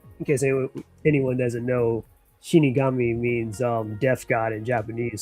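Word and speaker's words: 死神: we got Shinigami and stuff.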